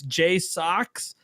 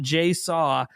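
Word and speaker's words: JSAUX: wants to sponsor me it's j socks not J saww they put up they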